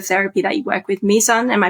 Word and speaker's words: Mizan: And on that note, if you feel ready to, let's drift into the therapy that you work with, Mizan. Am I pronouncing that right?